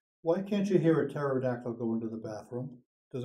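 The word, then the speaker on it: pterodactyl: can't you hear a terod actyl going to the bathroom does anybody know the answer to that because the p is silent okay any other questions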